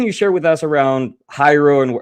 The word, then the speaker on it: Hiero: And sometimes people pronounce it hero, but it's actually Hyro as in hieroglyphic.